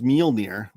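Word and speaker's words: Mjölnir: Uh I think you spelled it wrong, but it is Mjolnir. It's spelled m j o l n a r. No, m j o l n i r. Mjolnir.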